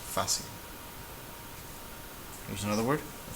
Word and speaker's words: fácil: Nobody would say fácil. It's fácil.